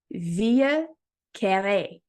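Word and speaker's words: Vieux Carré: pretty famously known that used to be called via K okay I literally had to put it the way that you pronounce it in Brackets um and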